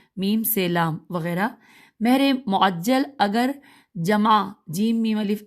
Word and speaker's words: معجل: ہو سکتی ہیں: مہر معجل، مہجے کروں گی، میم عین جیم لام اور عین پہ تشدید ہے تو مہر معجل۔ پھر دوسرا ساتھ ہی